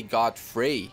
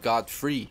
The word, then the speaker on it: Godfrey: to the realization that I I've been pronouncing his name wrong I used to say Godfrey instead of God free but back to the